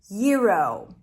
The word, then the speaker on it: gyro: How to pronounce the word gyro?